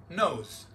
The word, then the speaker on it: nose: Telaffuzu nose. Nose. Yani Z ile.